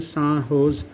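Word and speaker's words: San Jose: यूएस में recently the सैन जोस pronounced सान होज state university of which they were farmer students honoured them एंड installed there statue in the university campus.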